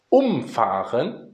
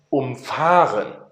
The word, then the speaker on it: umfahren: Das merken wir daran, denn das eine heißt umfahren, ist also ein trennbares Verb, und das andere heißt umfahren. Ja? Deswegen ist es ein nicht trennbares Verb. Umfahren und umfahren. Ihr merkt die Betonung.